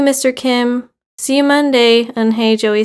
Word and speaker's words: Unhei: then to joey she nodded slowly yes is pronounced and hey and it means grace mr kim added and